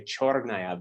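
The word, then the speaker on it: чёрная: Like in my case, and she always laughs at me when I try to say chornaya, because you always want to say cher because of the letter that's there.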